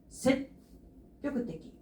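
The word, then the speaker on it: 積極的: 소극적은 괜찮은데 적극적이다라고 할 때는 셋 껴꾸떼기, 셋 껴꾸떼기 이렇게 읽어주시면 돼요.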